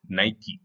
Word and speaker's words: Nike: think it is the actual pronunciation is nike nike nike nike company they made